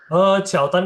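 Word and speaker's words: 乔丹: Oh, Tapi Mandarin kan nggak ada J. Jadi bacanya bukan, dia nggak bisa ngomong Jordan gitu, nggak bisa. Jadi oh, dibikin Mandarin 就 Qiaotan. 交 Nah, 交谈。 dia Qiaotan, dia namanya Qiaotan.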